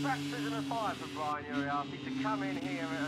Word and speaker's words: Uriarte: He was placed by the number 51 of Brian Uriarte. Thanks for the correction in the pronunciation there.